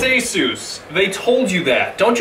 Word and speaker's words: ASUS: how to pronounce it a as in a lamu Seuss as in Dr Seuss as Seuss okay Aus Rog got it